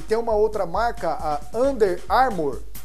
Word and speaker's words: Under Armour: o São Paulo e tem uma outra marca under armour é assim que pronuncia e tem um Nozinho para baixo e